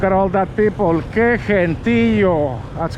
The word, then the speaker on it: gentío: Que gentío.